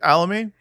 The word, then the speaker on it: Alami: Alami? Remember the Alami.